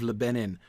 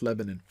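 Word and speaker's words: Lebennin: the green fields of le benin uh poem um uh lebanon excuse me we decided that it was pronounced lebanon um anyway so uh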